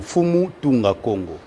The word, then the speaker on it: Fumu Tunga Congo: J'ai bien prononcé Fumu Tunga Congo? Oui, justement, Fumu Tunga Congo.